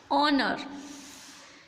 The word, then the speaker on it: honor: Second rule is before a word beginning with a silent H. For example, honor. Here is we see the H. We normally know that H is a consonant, but when we speak these words, it phonic like honor, honor.